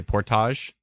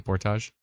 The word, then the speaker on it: Portage: some pronunciation tips here it's like porridge Portage ah what'd I say Portage like carrying a canoe above your head kind of thing Portage Portage Portage la Prairie